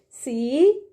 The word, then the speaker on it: comb: C-O-M-B. Comb. Yes, kids, in the word comb, B is silent.